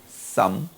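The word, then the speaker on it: Psalm: some. 나는 이 발음을 아직도 어색해요. 시편이라는 게 P가 묵음입니다. 그래서 some.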